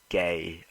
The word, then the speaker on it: Fahy: Gay. I'm not joking. That's how you pronounce his name.